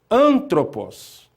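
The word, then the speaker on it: ἄνθρωπος: em terceiro a senhora antropos ele essa palavra leva um acento agudo na antepenúltima sílaba ante penúltima sílaba leva umas uma inspiração suave oa o alfa ele não é não modifica a pronúncia de limã antropos é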